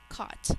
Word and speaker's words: caught: We're still using that 4-letter A-U-G-H, but this time we're using its first sound. Aw. Caught. I caught the ball in my glove. 1 syllable. Think to spell. K-aw-t. Spell caught out loud.